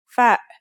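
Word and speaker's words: فاء: The first letter we're going to learn today is fa. Fa is pronounced just like the English F.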